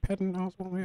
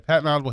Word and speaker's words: Patton Oswalt: I think I just said his name wrong. Holy cow. No, I think it was right. Patton Oswalt. Yeah. Patton Oswalt.